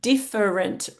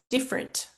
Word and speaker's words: different: Um so this word has what we call a disappearing syllable. Uh the word has three syllables, but we often say it with two. Um different versus different.